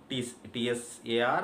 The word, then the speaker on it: tsar: it in English, but we do not pronounce T here, we just call it as Tsar, Tsar.